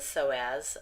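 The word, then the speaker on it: psoas: the diaphragm and the so as the P is silent in that internal and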